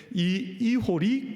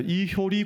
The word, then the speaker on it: 이호리: 그래서 처음에 이제 이기풍 선교사님께서가 보셨더니 그곳에 자생적인 신앙 공통체가 있는데이 이호리 공동체 이번에가 봤더니 어떤 분들은 이호리가 발음이 안 돼서 이효리 공동체 뭐 이러는 분도 있더냐 이게 이효리가 아니고이 이호리 공동체 또 금성리 공동체 이런 공동체가 있는데요.